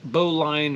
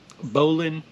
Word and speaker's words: bowline: But that is the bowline, or bowline. I've heard it pronounced both ways.